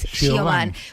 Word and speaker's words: Siobhan: Siobhan, sí, que en realidad me parece que la Nata lo pronunció mejor que nosotros, que es Siobhan, porque es el femenino de John, pero Sean.